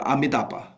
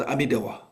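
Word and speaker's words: Amitābha: So like for example Buddha Amitava's name you know in in Sanskrit is called the Amitaba the Tibetan called Amidawa it's already changed and Chinese called then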